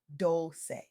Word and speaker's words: Dolce: I'm Dolce, pronounced doulce, like sweet softness whispered in French, and I'm your guide